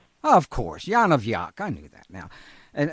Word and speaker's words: Yonavjak: Would you pronounce it for us, please? Yonavjak. Of course. Yonavjak.